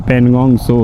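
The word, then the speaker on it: Pangong Tso: India में इसका नाम पनगोंग सो है।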